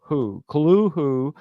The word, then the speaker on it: Cthulhu: See how it Cthulhu. This is the pronunciation given by Lovecraft in his correspondence, as mentioned in his selected letters by Arkham Is that House in 1926.